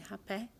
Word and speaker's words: hapé: They use only green hapé, like the tribe Apurina in the Acre. They only use green hapé. And yes, that is the pronunciation, Hapé.